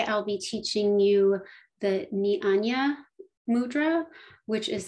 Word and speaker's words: Jnana: be teaching you the nihanya mudra which is spelled j n a n a but pronounced niyanya so this the core